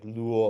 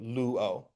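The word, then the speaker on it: λύω: But because they're not one of the listed diphthongs, we're going to pronounce them separately. So we wouldn't try to make it like luo or something like that. It'll be separate, luo.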